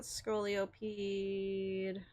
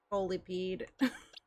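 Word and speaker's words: Scolipede: Um, not scoloped. I like how everyone's letting me say Scoloped. There's not another O in there. It's Skolipede.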